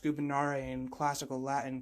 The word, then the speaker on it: gubernare: word gubernare it's pronounced gubernare in classical latin because there is no v in classical latin and gubernare means to